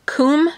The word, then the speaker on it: Kum: It is the, I believe it's pronounced Kum sharpener. It's K-U-M. It's the German brand.